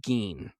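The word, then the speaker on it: Gein: psycho and so uh they pronounce it edge gene we can do gyn we can do gene whatnot whatever right but in 1957 in Wisconsin Ed Gene uh lived on an isolated farm.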